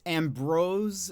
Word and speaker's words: Ambroise: It's Ambrose, but spelled with an I.